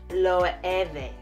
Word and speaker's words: Loewe: gonna check it out how do you say lo oh it has accented goo on the ease so it's low every we're going to do